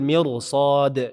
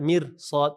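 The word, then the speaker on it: مرصاد: Labil mirsad, labil tebal bukan mirsad tapi mirsad, labil mirsad.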